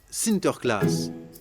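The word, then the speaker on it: Sinterklaas: des cadeaux aux enfants au Pays-Bas Saint-Nicolas se prononce sinter class et lorsque les Néerlandais traversent l'Atlantique au 17e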